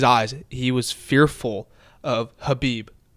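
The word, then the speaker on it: Khabib: he was fearful of Habeeb that's how you say it it's not could be not even kebapi actually he hates it when you call him kebab I read this though he likes to be called Habib Habib but I yes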